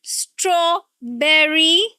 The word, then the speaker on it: strawberry: No, this is not berry. It is strawberry. Strawberry. Strawberry. Not berry. Not at all. Strawberry. Strawberry. And the stress is not on b. No, it's on straw. The first syllable.